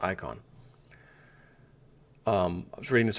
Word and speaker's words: Icahn: is I a hn it's pronounced icon um I was reading